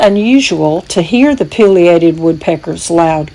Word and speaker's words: pileated: sligo's unique creatures the pileated woodpecker or as some pronounce it pilated woodpecker is sligo's largest